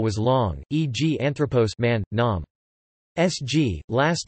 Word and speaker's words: άνθρωπος: the third from last syllable if the last syllable was long, e.g. anthropos, man, nom.